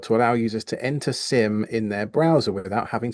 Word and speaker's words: SIEM: It's pronounced SIM, correct.